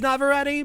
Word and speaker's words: Navarrete: How do you say that? Navarrete. It is Navarrete, but she's not.